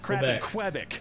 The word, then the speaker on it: Quebec: it can't have crap in Quebec or Quebec Quebec Canada Quebec there we go and that's the right pronunciation and yeah wow that's